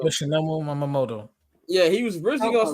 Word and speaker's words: Yoshinobu Yamamoto: Yoshinobu Yamamoto. That's how you pronounce his first name. Yoshinobu Yamamoto. Yoshinobu Yamamoto.